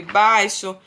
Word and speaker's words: baixo: Conheça algumas palavras onde o X tem som de CH, por exemplo, xícara, né? Shampoo, luxo, abacaxi, xarope, baixo, vai ter som de CH, mas se escreve com X, né?